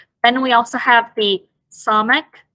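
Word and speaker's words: samekh: Then we also have the samek, pronounced as kind of a dull S again with the tongue pulled back a little bit further so that it is pressed against the hard palate.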